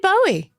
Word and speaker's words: Bowie: Queen and David Bowe did you say David boow I always say David Boe I grew up that way Jessie how do you say it David Bowie you're correct he's called Bowie but I always call him Bowie and that's how it will be for me Lin Manuel Miranda who